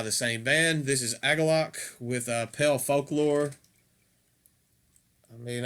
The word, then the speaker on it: Agalloch: I've heard him called different things. I call him Agalloch, so if that bothers you, I apologize, but that's just my personal, that's how I feel that it's pronounced.